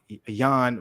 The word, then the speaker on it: Jan: Because I don't think you pronounce the J, actually. It's supposed to be Jan, and then it's supposed to be Jiri.